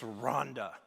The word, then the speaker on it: Rwanda: So I'm here on his benefit, on his behalf, to tell you it's Rhonda, okay? Pamela will say it's like, help me Rhonda, help me Rhonda.